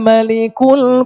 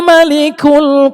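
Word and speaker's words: ملك: Huwallahul ladzi la ilaha illa huwal malikul quddusus salam. Sember, Allahnya Allah orang ngantuk itu kelihatannya. Wallahul ladzi la ilaha illa huwal malikul quddusus salam.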